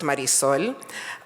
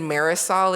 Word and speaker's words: Marisol: so I am Marisol my first name is pronounced Marisol um and I ask people to please please please as much as possible to honor the pronunciation of my name I'm hearing Marisol is like nails on a chalkboard for me and the reason for